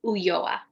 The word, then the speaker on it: Ulloa: It's pronounced Ulloa. Ulloa. Okay, I was wondering the double L.